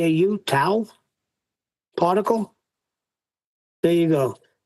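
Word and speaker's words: tau: T au towel particle.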